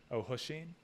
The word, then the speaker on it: O'Hoisin: How is it supposed to be pronounced? O'Hoisin.